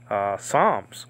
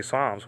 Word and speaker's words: Psalms: Psalms, we just say Psalms, we don't say Psalms, you know, there's a P there.